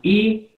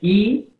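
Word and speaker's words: 이: de consonante de acuerdo Entonces circulito más I se lee I se lee simplemente I el circulito es mudo no se pronuncia Y esto es una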